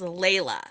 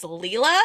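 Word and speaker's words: Leila: and the stalker x sub her name they pronounce her name is Layla from Christian's Viewpoint this narrator pronounces it as Leela and I'm like why why did we did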